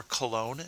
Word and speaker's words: Cologne: The next stop was Köln or Cologne, depending on who's in charge and whether you're using the French or the German.